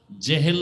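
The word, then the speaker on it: জাহল: নাম এইমাত্র তো বললাম আবু জাহাল জেহেল না জাহাল নাম হলো ইমাম গাজালি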